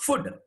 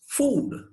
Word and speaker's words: food: It is not food. It takes a long vowel. It goes food.